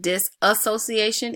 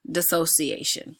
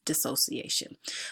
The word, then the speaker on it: dissociation: just time talked about that and I was pronouncing dissociation incorrectly I said this association it is dissociation so pardon me for that error as I